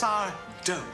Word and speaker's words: Sardo: It's Sardo. No mister. Accent on the do.